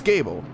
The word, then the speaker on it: Gable: game cable wait like I think he said it's like table a long time ago so it's Gable yes yeah that's how